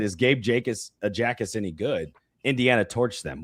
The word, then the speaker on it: Jacas: Is it Jacas or Jacas? I think it's Jacas, right? I think it's Jacas. That's what the U of I pronunciation on this bio said.